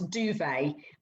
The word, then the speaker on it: Duvet: So just for people, that's Duvet. Yeah. Not saying that you've got an accent. But yeah, so it's spelled D-U-V-E-T, isn't it? So people looking on the bed, yeah, like your bed duvet, because it just wraps